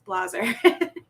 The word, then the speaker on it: Blaser: wanted to say Blazer but that's why I pronounce it it's Blazer so welcome Tiffany thank you so much for